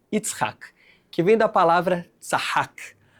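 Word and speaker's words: יצחק: Yud, Tzadik, Het, Kuf. Yitzhak, que vem da palavra Tzahak, a palavra que em raiz se chama sorrir.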